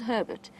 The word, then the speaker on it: Herbert: I've just heard exciting reports that Herbert has found, and it is Herbert, that is how he says his name, despite the slight miscommunication that has occurred within camp in terms of how to pronounce it.